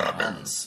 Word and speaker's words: almond: The L is silent. I could die by eating those shits, but I know not to say the L in almonds.